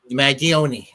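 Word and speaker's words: Mangione: mag mag mag mag mag I can never pronounce this last name mag magioni there you go my Italian my apologies to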